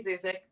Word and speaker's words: Zuzik: Zuzik, rhymes with music.